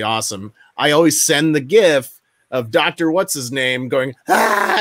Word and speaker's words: GIF: One of my favorite GIFs to use, and it's pronounced GIF, when I respond to somebody and they tell me something amazing over text.